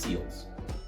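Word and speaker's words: SLLS: Those two very very important terms that we'll be discussing are stop and sills or it's pronounced seals.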